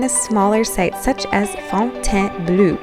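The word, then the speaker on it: Fontainebleau: smaller sites such as Fontaine Bleau, which is spelled Bleau, but pronounced bleu apparently by the French people.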